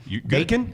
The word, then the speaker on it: Bacone: The softball team will be hosting Bacone. How do you say that? Bacon? You're good. Bacon, okay.